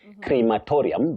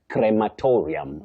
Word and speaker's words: crematorium: Betty, the second pronunciation is accurate. That is cre, not cree. Many people innocently say crematorium, but we don't have crematorium. It is crematorium.